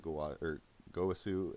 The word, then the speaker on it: Gowasu: So again, we have Samasu and Gowasu and Samasu. If you're wondering why I say it that way in the show, that's how they say it, and I actually think it sounds cooler that way anyway.